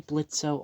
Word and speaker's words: Blitzø: But obviously Blitzø, or Blitz, because the O is silent, and I do like how they crossed it out here.